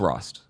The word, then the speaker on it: Rost: of similar sounding anyways yeah it's Rost it's not carst yeah it's just those